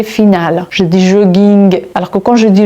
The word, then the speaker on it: jogging: Donc il faut juste retenir cette petite règle parce que si un mot se termine par la lettre G et que ce mot-là vient de l'anglais, je suis obligée de prononcer G finale.